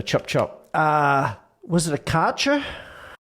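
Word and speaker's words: Kärcher: A proper Australian will just say, Karcher. It's a Karcher, mate. Martin, of course, says, well, actually, it is a German brand, and therefore we pronounce it in the German way, which, according to my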